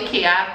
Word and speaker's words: IKEA: deando que isso agora no IKEA eu falei Kea porque aqui em Portugal é assim a pronúncia entendeu Porque também na